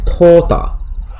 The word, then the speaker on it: Tuta: And similarly, Tuta is Tota. You know. And if you don't know, like OU in Japanese is pronounced O. It's like a long O.